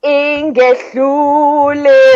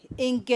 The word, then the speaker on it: Ingehlule: How do we pronounce it again? Ingehlule. Ingehlule. Ingehlule.